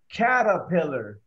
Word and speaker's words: caterpillar: Olvídense la R. Caterpillar.